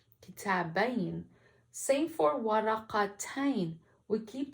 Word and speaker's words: كتابين: And in this example, the ya is pronounced as a letter, not a long vowel. So we won't say كتابين, we have to say كتابين, كتابين.